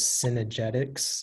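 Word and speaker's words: cynegetics: all the information yeah the only pronunciation is synergetics it's a non-plural but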